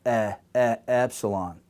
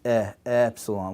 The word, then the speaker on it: epsilon: this is the letter epsilon, and this we're talking about the tongue, and it's near the bottom of the mouth, the base of our mouth, epsilon.